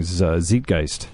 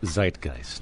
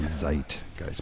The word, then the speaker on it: Zeitgeist: the correct pronunciation uh Zeitgeist Zeitgeist because it's a German word and what does it